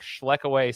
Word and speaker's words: Schlekeway: And his name is Nick Schlechway.